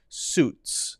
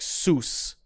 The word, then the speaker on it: suits: we're focusing on, but often saying something like sus, which would be incorrect. You got to make sure that it's a little T sound that makes it kind of like you're hitting a cymbal.